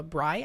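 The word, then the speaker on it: braai: a cookout known as the uh Bri I think is how it's pronounced b r a a i and uh you know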